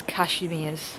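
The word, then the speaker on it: Kazimierz: I've just overheard a tour guide pronounce the name and it's Cashmir. So, I was pronouncing it wrong. Just passed a memorial in the middle of Kashmir, which is dedicated to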